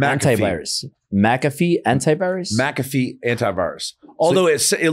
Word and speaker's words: McAfee: do you pronounce it it's not how it looks mafei ma m antivirus maafe antivirus McAfee Antivirus irus although it